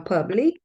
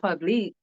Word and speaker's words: Publix: Moscato of course Barefoot from Publix not publicly that's how you say it when you put